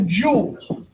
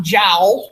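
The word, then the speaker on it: joule: going to use the jewel all right j-o-u-l-e is pronounced jewel not jowl like somebody's jaws all right the calorie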